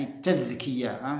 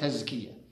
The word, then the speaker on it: التذكية: لأنها أفرغت من الدم، ولذلك أنا أتكلم هنا عن التذكية، بدال معجمة، التذكية، ننطقها بالمصريات تزكية.